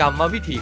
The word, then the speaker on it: กรรมวิธี: คำ ที่ 3 คำ ว่า กรรมวิธี อ่าน ว่า กรรมวิธี ครับ คำ ที่ 4 คำ ว่า กริยา อ่าน